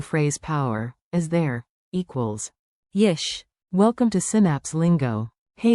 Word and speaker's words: יש: Let's get the sound locked in, short, friendly, curious. Repeat after me. yesh. Like, yesh, one beat.